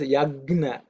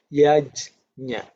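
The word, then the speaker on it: यज्ञ: It's no harm in repeating because many people pronounce it as yagna, G-N-A. Some people pronounce it as G-Y-A, yagya. These are regional derivations or morphing of that language. But pure Sanskrit is yajna.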